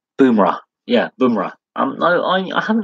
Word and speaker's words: Bumrah: Bumrah.